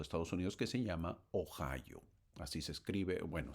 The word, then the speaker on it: Ohio: Unidos que se llama Ohio. Así se escribe, bueno, se pronuncia Ohio o O i O. Ohio o en en español sería oío o io sería pues no.